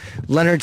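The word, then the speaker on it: Lynyrd: Maybe she was going to see fucking Leonard Skinner in 2 weeks.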